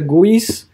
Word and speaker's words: GUI: So user interfaces is pronounced UI, and then you have the other one called graphical user interfaces, which is sort of pronounced GUI, right?